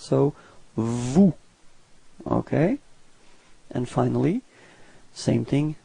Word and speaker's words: vous: Same thing. Final S is not pronounced. So vous.